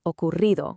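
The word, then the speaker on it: ocurrido: The challenge here is that double R. Now don't try to do a long hard roll. It's actually a light quick tap of your tongue on the roof of your mouth. Think of it like a soft vibration.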